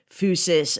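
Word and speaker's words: physis: in the distinction between fusus and Tech so for listeners when we're using the Greek word fusus that's spelled p h Ys i s it's where we get the word physics fusus is nature Tech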